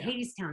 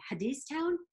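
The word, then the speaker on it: Hadestown: don't worry I remember people even saying Hadees town heads they didn't even know what the show was how to pronounce it especially and now and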